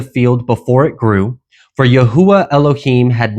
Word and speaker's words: Yahuwah: I know many people like to pronounce it Yahweh or Yahweh or Jehovah or Yahuwah. So whatever you choose to pronounce it, just understand that when I say Yahuwah, I am speaking of the covenant name that our Elohim gave man.